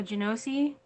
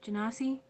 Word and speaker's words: Genasi: Is it a Genosi? Lowlin. Just make sure. Who is she? Is that what it is? Is it a Genosi? The pronunciation. No, Genasi? Genasi. Yep, that's correct.